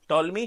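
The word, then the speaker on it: Ptolemy: The ancient Greek geographer of टॉलमी sorry क्या, टॉलमी, पी इज a silent, टॉलमी created a grid system of the world in his book geography.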